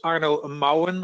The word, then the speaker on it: Arno Marwan: My name is Arno Marwan. I will pronounce it in Dutch because I'm from Holland.